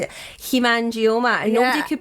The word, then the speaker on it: hemangioma: Hemangioma. And nobody could pronounce that, but it used to be very, very rare.